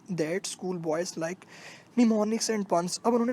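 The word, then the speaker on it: mnemonics: मिसाल दे रहा है, जिस तरह निमोनिक्स, जिसका एम साइलेंट है उसको निमोनिक पढ़ेंगे।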